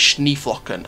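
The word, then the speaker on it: Schneeflöckchen: I found out it's Schneeflocken, unless I've been pronouncing it wrong my entire career.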